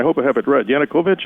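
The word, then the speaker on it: Yanukovych: Yanukovich, is that correct? The former president. Very good. You got it. Exactly how you pronounce it.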